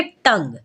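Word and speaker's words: tongue: silent तो पढ़ेंगे guess यहां पर टंग में अगर आप ध्यान दें तो यू जो है जी के बाद है वॉवेल से पहले है तो यहां पर भी यू हो जाएगा साइलेंट तो पढ़ेंगे टंग ठीक है चलिए जानते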